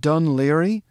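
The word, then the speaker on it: Dún Laoghaire: how that's pronounced they'll say balikley this is pronounced dun leary and this is pronounced finn mccool i kid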